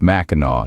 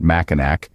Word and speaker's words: Mackinac: and unique rock formations Skull Cave and Sugarloaf maau Island pronounced maau not maak comes from the Native American tribes before before